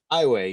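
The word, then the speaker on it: Aiwei: meet the character uh is it i way is that how you say it ai way yeah yeah i weigh voiced by the great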